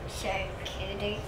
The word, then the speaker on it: charcuterie: Charcuterie, did I say it right? Yes. So, how do you say it, Opal? Charcuterie.